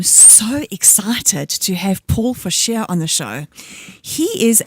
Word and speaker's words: Fouchee: This morning, I am so excited to have Paul Fouchee on the show. He is a crime scene decontamination technician. I know I've pronounced that correctly because I've been practicing.